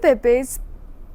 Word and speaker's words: Pepys: So now talking about another literary figure, that is Samuel Pepys, that is 1633 to 1703. Samuel Pepys, it normally pronounced the Pepys, was the son of a London tailor.